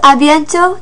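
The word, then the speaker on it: à bientôt: you soon notice with abiento there's a t on the end that is also silent so that does it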